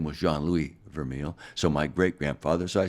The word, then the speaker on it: Vermeil: It's actually pronounced Vermeil.